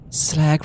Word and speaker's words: slag: Fier write that down slag rhymes with tag already written down and